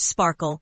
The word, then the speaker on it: SPARQL: Pronounced Sparkle, Sparkle stands for Sparkle Protocol and RDF query language.